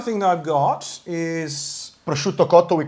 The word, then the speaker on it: prosciutto: And a lot of people who say prosciutto mispronounce it. It's prosciutto.